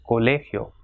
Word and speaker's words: colegio: For example, colegio, ending in O. So last syllable, last but one, that is second last, will be stressed. So it has got 3 syllables, colegio. So the stress will be on le, colegio.